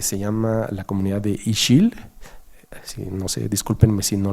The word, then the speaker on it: Ixil: Hemos tenido reuniones con comunidades de Yucatán, específicamente en una que se llama la comunidad de Ixil. No sé, discúlpenme si no lo pronuncio bien, pero sí se escribe IXIL, Ixil.